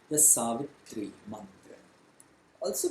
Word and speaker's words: Savitri: Gayatri mantra is otherwise called the Savitri mantra. Also pronounced as Savitar mantra. Savitar. In the Gayatri mantra itself, it is pronounced as Savitar because rules of grammar apply over there of Sanskrit.